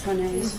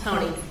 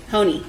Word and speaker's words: Honea: Am I saying that properly, Ms. Honea? Honey. Honey. Yes. Okay. We're all saying it wrong.